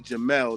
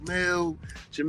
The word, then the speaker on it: Jamil: But actually um my mother pronounced it she spelled it J A M I L but she pronounced it Jamal. So it's actually Jamal.